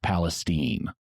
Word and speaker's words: Palestine: And yes, Palestine, Texas is pronounced Palestine.